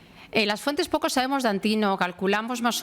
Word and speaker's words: Antínoo: esclavo entonces Este joven antíno Nosotros sí que ponemos el acento en la i porque en esa región se hablaba en griego todas las inscripciones que